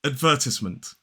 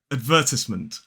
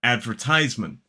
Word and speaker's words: advertisement: In a modern British RP accent, this is advertisement. Advertisement. 4 syllables, the stress is on the second syllable. But now let's compare it to the general American pronunciation, advertisement.